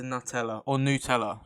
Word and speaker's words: Nutella: you solve world hunger forever, but you become allergic to Nutella. Sorry, that's how it's pronounced.